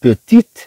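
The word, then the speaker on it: petite: طبعا هو مذكر، اذا طبعا نقول هنا بيتي، بيتي، هذا الطي ما تنطقش. لكن اذا تكلمنا عن بيتيت مينا، اذا اضفنا هنا هذا الطي تنطق.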